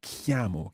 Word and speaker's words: chiamo: yamo me qiyamah and it's quite a tricky sound in there kammo kammo kammo kammo kammo